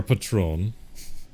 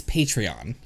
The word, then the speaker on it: Patreon: Festival look up our patrón patrón yeah hey for now you pronounced it wrong no it's Patrick its patreon its patron is a liquors its patreon because their patrons love your cup of both this is